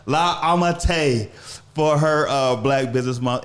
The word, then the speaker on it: La Ammitai: I said that right? Yeah, you said it right. La Ammitai for her Black Business Month interview.